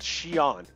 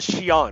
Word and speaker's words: Xi'an: When I went through, I stopped at a place called Xi'an. It's called Xi'an, right? But it's spelled with an X. X-I dash comma A-N. Xi'an.